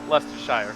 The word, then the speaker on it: Leicestershire: dave jones where is he from he is from now i'm going to butcher the name lestershire he says it pronounced yeah leicestershire in the uk how